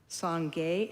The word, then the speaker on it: Sangye: Sangye and Jangchup have the same meaning. So they both mean, the first syllable means purification.